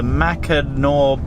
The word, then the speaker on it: Mackinac: the US which is the macanor bridge yes well done and I think you I think you said it right yeah the spelling is confusing our first up after